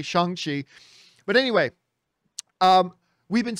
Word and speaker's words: Shang-Chi: in the trailer it's pronounced shongxi like a soft a now we know how it's said so i'm saying it hopefully correctly shang chi but anyway um we've